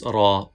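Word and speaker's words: ر: We can pronounce ra by touching the edge of the tongue with the gum of first three upper front teeth.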